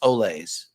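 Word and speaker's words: Olés: It's pronounced Olays. Potato Olays. Mm. It's just like tater tots. I like going to Sonic and getting some tater tots though. Like bullfighters say, Olay.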